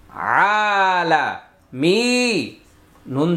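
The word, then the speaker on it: العالمين: যেন না হয় আলা মিয়া জের মি মি আলা মি নুন জবর না মিনা এটা জেরের বাম পাশে জজমলা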